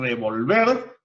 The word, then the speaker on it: revolver: Se nos damos cuenta que no es lo mismo revolver que revólver. ¿Y cuál es la diferencia? La única diferencia entre esas dos palabras es que la mayor fuerza de voz lleva en una sílaba distinta.